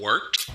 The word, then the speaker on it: wort: It's pronounced the Wort. What is it? The Wort? Yeah, okay, I'll do that again. This is The Wort on Govs Radio. It is the Wort. Not warts, not forts, not short.